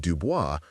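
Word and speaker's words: Du Bois: When he was nine, young Willie Dirks discovered the writings of Web Dubois, pronounced Dubo, and had his own name legally changed by the time he was 20.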